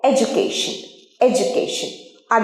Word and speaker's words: education: একটা জিনিস শেখাই, এডুকেশনের ডি থাকলেও উচ্চারণ কিন্তু জ হয়, এডুকেশন এডুকেশন এডুকেশন নয়। উচ্চারণ সঠিক উচ্চারণ ডয়ের উচ্চারণ জ হয়, জ। এডুকেশন এডুকেশন, আর যেন ভুল না হয়।